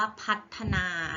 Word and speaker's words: พัฒนา: ไม่ ทะเลาะ พัต นา นะ คะ อ่าน ว่า พัฒนา นะ คะ พัฒนา คือ ทำ ให้ ดี ขึ้น